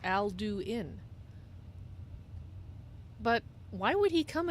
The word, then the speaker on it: Alduin: voice really that's why Alduin spoke his name as if it was three syllables Alduin but why would he